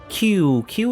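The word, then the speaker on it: Qiqi: I don't know foreign q q is like it's weird how you pronounce Chinese words in English because the way it's spelled Q is chi right G yeah so yeah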